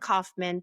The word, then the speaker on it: Kaufman: have the last names, Ken and Dallin Kaufman, the co-founders of Accruedent. Everybody listening, make sure that you get that right because that's how you pronounce it.